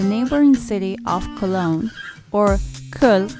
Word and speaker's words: Köln: city of Cologne, or Köln as it is pronounced in German.